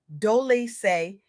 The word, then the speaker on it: Dolce: I'm your host, Dolce, pronounced Dolce, and today I'm absolutely electrified to share with